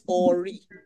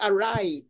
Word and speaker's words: awry: And then later on, you said something was awry. It's awry.